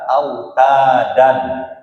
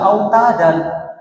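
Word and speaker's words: أوتادا: Tapi jangan kita baca autadan, tapi kita baca apa? Hilangkan fathahnya satu, autada. Masih belum. Apa yang belum? Panjangnya. Karena panjangnya belum dua harokat. Maka panjangkan. Autada. Cukup segitu aja.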